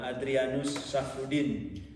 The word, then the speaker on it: Adrianus Safroudine: Ça se prononce en ma langue indonésienne, donc Adrianus Safroudine.